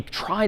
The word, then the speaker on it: trie: Well, let me propose that we try to get there, no pun intended, though I guess kind of intended, with tries, short for retrieval, even though retrieval isn't pronounced retrival. A try is another type of